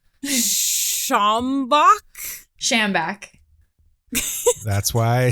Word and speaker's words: Schambach: And make sure you get the last name pronunciation right, too. Oh, F. Schambach? Schambach. That's why I said to figure it out. Schambach.